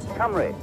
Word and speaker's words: Cumbrae: ferry we're about hungry in scotland you know camry how do you pronounce it camry camry and i've been pronouncing it wrong for